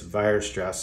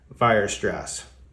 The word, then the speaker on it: Weierstrass: German isn't great but I would say it's vir stress substitution vir stress vir stress vir stress anyway